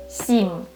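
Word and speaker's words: сім: Let's try one more time with this C, but in the end you will have M. And let's combine it. How do you say it? Sim, sim, which means 7.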